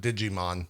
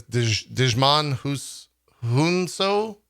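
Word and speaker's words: Djimon Hounsou: you say this name it's not digimon that's just awful it's desmond who's so as korath the pursuer samuel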